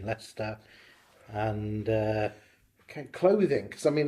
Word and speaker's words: Leicester: born and bred in Leicester yeah stuff good stuff Lester that's how the locals pronounce it yes sir good stuff